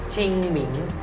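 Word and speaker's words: 清明: ภาษา จีน นะ ครับ จีน กลาง เนี่ย เอ่อ จะ ไป ออก เสียง ว่า เป็น ชิงหมิง นะ ครับ ซึ่ง ความ หมาย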